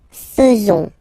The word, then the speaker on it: faisons: So it's quite strange because French people tend to pronounce faisons. Okay? So like here, this AE is not pronounced like normally we should pronounce it like E, but then like okay?